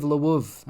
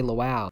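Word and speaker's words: Lviv: especially the city of leuv okay I'm going to say it properly I'm not going to say laow the way I said it before I sound like a surprised French person now blood awaits Ukrainian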